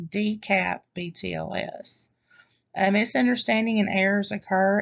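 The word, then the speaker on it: DCAP-BTLS: sorry for that um dash btls is pronounced d cap btls a misunderstanding and errors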